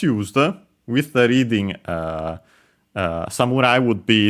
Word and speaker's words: samurai: Technically, we have samurai, and yeah, of course, it's samurai. It's used also in English from Japanese, which, by the way, is unaccented.